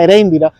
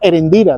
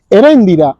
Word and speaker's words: Eréndira: libro de la cándida Eréndira Yo pronunciaba erendira después me di con el correr del tiempo me di cuenta que la pronunciación era otra pero fíjense ustedes como